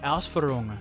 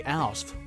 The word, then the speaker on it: Ausführung: On my Italeri Panzer 3 video, the Agile Aardvark says, German pro tip, Ausf is an abbreviated Ausführung. Don't just say Ausf, please don't.